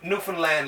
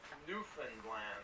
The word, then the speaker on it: Newfoundland: Oh, Newfoundland, like understand Newfoundland. Newfoundland. So you don't really say, because it looks like it's spelled Newfoundland, like F-O-U-N-D, right?